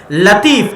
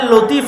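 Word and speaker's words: لطيف: মানে লতিফ আল্লাহর নাম। কিন্তু সঠিক উচ্চারণ হচ্ছে লাতিফ। সঠিক উচ্চারণ কি? লাতিফ। লতিফ এটা সঠিক উচ্চারণ নয়। লাতিফ হচ্ছে সঠিক উচ্চারণ।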